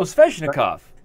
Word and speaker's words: Sveshnikov: okay and it is what ises nikov oh sveshnikov snov yeah am I pronouncing that right yeah you are s uh